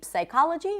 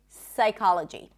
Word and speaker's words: psychology: Whenever there is a PS at the beginning of a word, the P is not pronounced. So we don't say psychology, we say psychology.